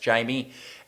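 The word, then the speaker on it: Jammie: very quickly my sleeper is a guy called Jamie Robinson from the Florida State Seminoles spelled Jammy with a double M but pronounced Jamie and again I was thinking if you're looking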